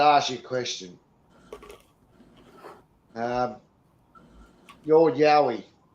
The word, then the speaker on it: yowie: Yowie is actually the kind of corner phrase by white fellas, but it's actually pronounced yowie, not yowie, which is the noise they make.